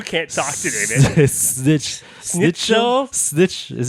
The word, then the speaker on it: Schnitzel: I love them snitch. Both of you can't talk today, man. Snitch. Schnitzel?